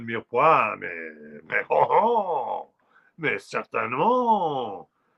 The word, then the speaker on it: mirepoix: Oh, mirepoix, mais bien sûr, c'est silant, on ne prononce pas le E dans la parole mirepoix, mais oh, oh, mais